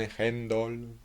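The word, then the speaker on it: Handel: parcel o de hendel que en Inglaterra escriben y pronuncian hendle porque consideraba esa audición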